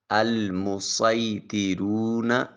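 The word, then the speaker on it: المصيطرون: بس توطن۔ بس توطن۔ پھر تیسرا لفظ ہے المسیطرون۔ المسیطرون۔ چوتھا لفظ ہے بمسیطر۔ بمسیطر۔ یہ 4 الفاظ ہیں جہاں صاد لکھا ہوتا ہے اور ان کے اوپر سین بھی لکھا ہے، تو صاد کی بجائے ہم سین تلاوت کریں گے۔ آئیے چلتے ہیں آج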